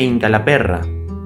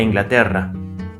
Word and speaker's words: Inglaterra: Dice que el inglés era de Incalaperra, se está burlando del lugar de origen de este hombre, pronunciando mal la palabra Inglaterra.